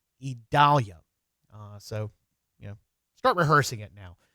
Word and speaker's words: Idalia: The pronunciation of that is Idalia.